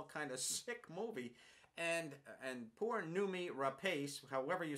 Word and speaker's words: Rapace: No, it's Rapace, I believe. No, R-A-P-A-C-E is the spelling. Wouldn't that be Rapace? Rapace. Okay, Rapace. I don't think the E would be pronounced.